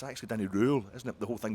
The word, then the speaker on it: Röhl: the day Danny Danny Rule Danny Danny Rule they all know they all know how it's pronounced daddy cool you know just in a we rip off a daddy cool and that is only